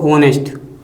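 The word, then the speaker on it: honest: लेकिन इसका जो उच्चारण है ना [गला साफ़ करने की आवाज़] वो ऐसे पढ़ते हैं हम इसको ऑनेस्ट। ऑनेस्ट मैन यानी आ का उच्चारण आना है।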